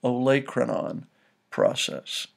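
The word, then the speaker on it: olecranon: look at the letters in the word it's pronounced oanon process so very important prominent feature you should know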